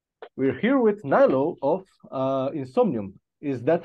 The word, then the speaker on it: Niilo: We're here with Niilo of Insomnium. Is that how we pronounce the name? Niilo. Niilo.